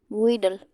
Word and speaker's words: wheedle: पहला है हमारा WHEELE, वीडल।